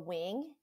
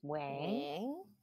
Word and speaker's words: Nguyen: I'm Nguyen, or Wing, if you want to say it proper, Vietnamese. How do you say it? Yes, that's how you say it. Wing. Yeah, like a bird's wing.